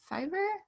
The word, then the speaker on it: Fiverr: Is it Fiverr? Yeah, I've heard Is of that right? Fiverr.